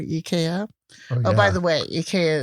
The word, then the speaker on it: IKEA: oh by the way eeka is the European way of saying here I guess people say Ikea we say it wrong in the states yeah we do but